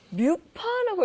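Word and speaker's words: MUFA: MPB라고 쓰여 있는데 먼저 M부터 확인해 보면 뮤파라고 읽어지나요? 그렇죠.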